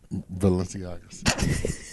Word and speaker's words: Balenciagas: Balenciagas.